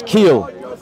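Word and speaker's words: חיל: What I said was, is that its origin is from chil, right? Which you pronounce keel, which is a primitive root, properly to twist, right?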